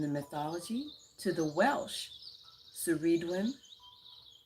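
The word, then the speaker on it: Ceridwen: mythology to the welsh sireedwin karidwin sorry it's pronounced that incorrectly kuredwin is a triple goddess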